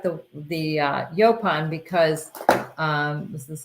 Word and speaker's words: yaupon: United States and um it's called yopon how do you spell it it's y-a-u-p-o-n and um it is